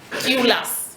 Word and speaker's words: Tylus: And another undertone, this one is very important, is by a Polish woman called, her surname is Tylus, if I'm pronouncing it right, T-Y-L-U-S. That's right, ma'am.